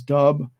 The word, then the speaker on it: dub: So that's referred to, the first one was lub, the second sound is dub, or sometimes it's pronounced dup.